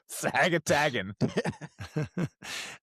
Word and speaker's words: Sagatagan: How do you say it's Sagatagan? Lean into it, Steve. Yeah, Sagatagan. And majored in engineering.